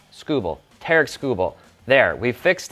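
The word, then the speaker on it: Tarik Skubal: It is TK, not Tariq. TK. And it is Scooball, not Scooball. Not like screw ball. Scooball.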